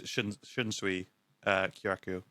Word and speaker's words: Shunsui Kyoraku: I'm just trying to get the pronunciation because I honestly can never remember how to pronounce it. I always remember Ukitake. Mm-hmm. His first it's Shunsui Kyoraku.